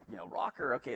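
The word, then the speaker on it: ROKR: uh and and so he's like you know rocker okay it's spelled like right you r k r that's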